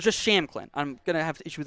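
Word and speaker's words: Shampklin: aaron champ clinton but the p is silent so it's just sham clinton i'm gonna have to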